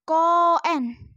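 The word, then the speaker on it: 公園: atasnya ada garis begini Itu dibaca panjang misalnya koen arti akan Taman nabati dibaca koen ngerti mengerti okey sekarang booshi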